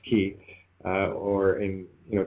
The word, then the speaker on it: chi: X is the Greek letter for key it's pronounced key uh or in you know Chinese because of